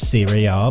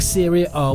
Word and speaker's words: Serie A: And now, another interesting fact to completely blow your mind with the greatness of Serie A back then.